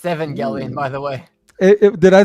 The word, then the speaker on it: Evangelion: Josh nizy Eva oh evangelon Eva 13 it's Evangelion by the way did I say how do you pronounce that Evangelion Evangelion Evangelion I'm theer I